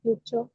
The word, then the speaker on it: future: So TU has the ch sound, future.